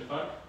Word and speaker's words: FARC: Tak pisze się FARC, czyta się FARC.